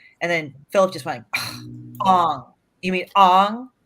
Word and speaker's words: Aang: So I said, oh, you've got Aang's tattoo, right? Because I thought that's how he pronounced. And then Philip just went, Ong.